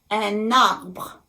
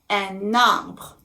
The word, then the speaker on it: un arbre: So think of an imaginary line that is going from the letter N in the article un, and it's going to be attached to the vowel a at the beginning of the word arbre. So I call it liaison. And it's as if it were a one word.